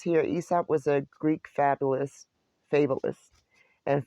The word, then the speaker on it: Aesop: And I wanted to see, sorry, Aesop, right? Because the A is silent.